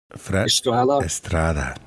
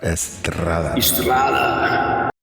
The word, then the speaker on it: Estrada: Estrada. No, you gotta roll that R, man. Estrada.